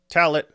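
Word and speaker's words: tallit: You see, in modern Hebrew, the word is pronounced talit with the stress on the final syllable.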